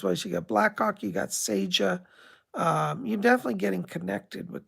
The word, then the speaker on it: Seja: She spelled it S-E-J, Seja. She pronounces Seja.